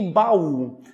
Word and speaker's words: baú: fica junto do mal quando eu coloco acento nesse fiozinho fica baú eu vou separar um do outro então formarei um e hiato Ok vamos para a